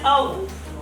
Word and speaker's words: of: So, of is actually spoken as of with V. But in shorter version, it is spoken like, somebody will help me.